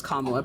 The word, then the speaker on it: Kamala: Her name is Kamala. Pronounce it right, okay?